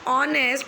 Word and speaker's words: honest: Because honest produces sound of O.